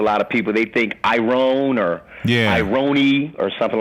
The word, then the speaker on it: IronE: You can say IronE or IronE, like ironic.